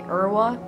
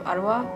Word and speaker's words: Arwa: I used to have a teacher who very adamantly called me Urwa instead of Arwa, and everyone in my class knew that she